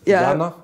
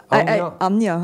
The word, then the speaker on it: Anja: So, it's written Anja, but it's Jana? Anya.